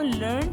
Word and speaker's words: learned: वो लर्नड और लर्नड है. ठीक है, स्पेलिंग दोनों का सेम है, मीनिंग भी सेम है, लेकिन थोड़ा सा इसमें डिफरेंस है इसके यूज़ में. LEARNED लर्नड कहाँ पे पढ़ना है और LEARNED लर्निड कहाँ पे पढ़ना है.